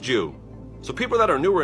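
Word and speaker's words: 十: Plus, in Japan, the symbol for 10 is a cross. It means heaven, and it's pronounced Jew.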